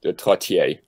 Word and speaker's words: Trottier: The only accurate pronunciation is in French, I suppose. It would be Trottier.